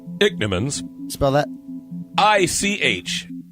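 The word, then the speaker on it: ichneumons: favorite it's actually a horrible thing dick Nimmons pronounced dick Nimmons smell that I CH n EU mo NS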